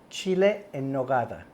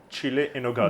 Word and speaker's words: Chile en nogada: And how do you pronounce it? Chile en nogada. Chile en nogada.